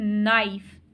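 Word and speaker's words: knife: लेकिन बोलने में हम क्या कह रहे हैं नाइफ नाइफ हम के नाइफ नहीं बोल रहे तो ये जो इसमें साइलेंट वर्ड है जो साइलेंट लेटर है वो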